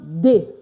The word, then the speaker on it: des: D E S D is pronounced day. Yes. It's not this. It's not this. It's not the It's pronounced what? The like the day.